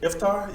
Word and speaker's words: Iftar: So what did you have for your iftar? oh man, How you say it? Iftar? Yeah, Iftar. Yeah, nigga, Iftar got is that the shit right. Yeah, you got it.